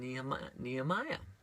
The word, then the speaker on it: Nehemiah: rebuilt under Ezra and Nehemiah nehemia as we would pronounce in Hebrew and so under the